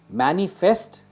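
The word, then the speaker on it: manifest: इसे कैसे प्रोनाउंस करेंगे? मैनिफेस्ट।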